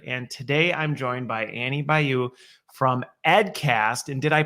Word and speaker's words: Annie Bayou: your questions answered and today I'm joined by Annie Bayou from edcast and did I did I pronounce it right was I pretty close yeah